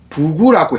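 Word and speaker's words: 布谷: 지금 현재 중국 발음으로는 포곡을 부구라고 해요. 비유지유 부구라고 하고 포곡을 부구 하는데, 그러니까 우리는 뻐꾹 뻐꾸기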